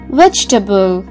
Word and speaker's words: vegetable: we pronounce this word we should completely forget the letter e after g vegetable i'm going to buy